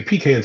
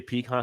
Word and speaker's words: pecan: pean's in Philly I I say both I've been in different parts I I sometimes I'll say peon sometimes I'll say pecan it just depends more more than I I'll say peon but if I'm in the South I say pean just to annoy them you know what I